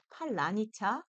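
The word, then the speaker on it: паляниця: 숨겨져 있다고 하는데요 자 여러분 따라해 보세요 팔리니 차 팔라니 차 팔라니 차 아이 발은 되게 어렵지 않나요 러시아 사람들도이 발음을 따라할 수가 없다고 해요 그래서 전쟁 중에이 단어로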